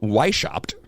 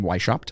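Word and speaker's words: Weishaupt: say that's his name why shopped Vice helped oh cause it's yo because it's German yeah I get to speak like this the whole time even nothing Vice chopped oh I know that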